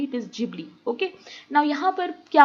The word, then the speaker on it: Ghibli: Many of you pronunciate it like ghibli art, but it is not ghibli, it is ghibli.